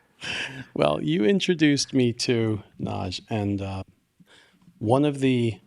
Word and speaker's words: Nagy: author of Hungarian descent Ivan Naj naj is spelled hyphenated n a g y and I can't say